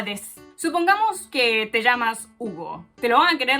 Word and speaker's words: Hugo: Porque ¿quién es Hugo? ¿Quién es Hugo? Le tienes que decir Shigaemasu Hugo des.